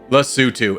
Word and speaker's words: Lesotho: requested nation in the last video, which is Lesotho. And yes, I did have to Google that to make sure I pronounced it correctly.